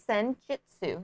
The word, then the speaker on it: Senjutsu: I think it's Senjutsu. Yeah, Jutsu. Because J-U and then Su.